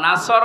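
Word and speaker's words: نصر: নুন সোয়াদ র, নাসর মানে সাহায্য, আর নুন সিন র, নাসর মানে ঈগল পাখি। এই জন্য তেলাওয়াত যখন করবেন সোয়াদ উচ্চারণটা মুখ গোল করা লাগে।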